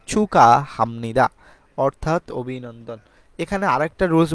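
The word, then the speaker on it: 축하합니다: পরে যদি হিয়ত থাকে গিয়ক বাচ্চিমের পরে যদি হিয়ত থাকে তাহলে এই গিয়ক আর হিয়ত মিলে দুইটা হয়ে যাবে খ এর মত উচ্চারণ হয় তাহলে চুকা হামনিদা অর্থাৎ অভিনন্দন এখানে আরেকটা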